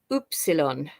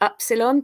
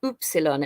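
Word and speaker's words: upsilon: English in Greek it's oopsilon and some people pronounce it Epsilon but it's actually oopsilon and it makes the sound ooh then here I also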